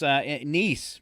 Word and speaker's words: Nice: All right, in France, Nice, but I like to call it Nice because that's how it's spelled.